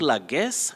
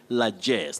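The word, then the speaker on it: largesse: like yes like yes not like not la guess not la guess you say la jess that is the act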